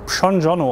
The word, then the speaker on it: Przondziono: Er wird Pschonjono ausgesprochen, wie PSCH am Anfang.